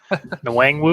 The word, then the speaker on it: Nwangwu: Nwangwu?